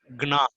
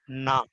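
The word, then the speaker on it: gnaw: G is silent. We should not say gna. We should say na.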